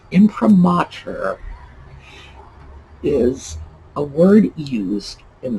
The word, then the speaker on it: imprimatur: that weird massachusetts accent so why do i have that picked up on that one word because imprimatur let's see i'm still doing it in promoter is a word used